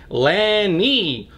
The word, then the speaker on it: Lani: saram for a few years now it is Lani or as she would say anni with an